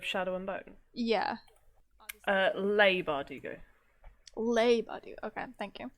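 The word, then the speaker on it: Leigh: i jesus christ uh i think that's that's pronounced the author of shadow and bone yeah uh lay bardigo labe okay thank you i would say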